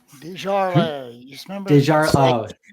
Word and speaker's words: Desjardins: Up next, we've got Grinnell Buzz Desjardins. Did I pronounce that correctly? Desjardins. You remember? Desjardins. Like fine wine. Beaujolais, Desjardins.